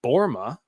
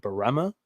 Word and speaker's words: Borma: learned something new today borma is how you pronounce his last name um for a year and a half everybody's been pronouncing it BMA but uh with the uh NCA Tournament game notes they apparently adjusted the uh pronunciation of his name so borma Owen borma